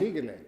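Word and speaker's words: Sighele: Is Sigele the right pronunciation? Sigele, almost right. Sigele.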